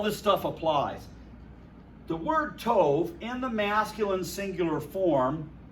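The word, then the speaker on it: טוב: The word tov in the masculine singular form is spelled tov.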